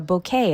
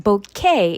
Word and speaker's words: bouquet: The teacher was at a loss for words when the students gave her a bouquet of roses. Note that bouquet is pronounced bouquet.